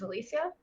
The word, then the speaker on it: Elysia: Queen yes I'm Elysia not many people know how to pronounce my name it is Alisha I'm a professional II